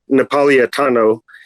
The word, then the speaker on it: Napolitano: And y'all talked about Anthony Napolitano. That's how you pronounce it.